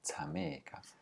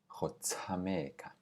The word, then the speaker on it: tsameka: Tsameka is play, tsameka. Notice that an SH is never pronounced sh in Tswana. It's always just an aspirated S, so it's ts, tsameka.